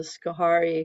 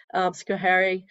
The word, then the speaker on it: Schoharie: They're in the Schoharie, I think that's how you pronounce it, Schoharie Valley.